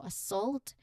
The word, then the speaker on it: assault: So pronunciation wise when you say this word the first sound is a very soft almost hidden a sound like the beginning of about or away. So assault the main part of the word which is also the stressed and louder is the second syllable salt.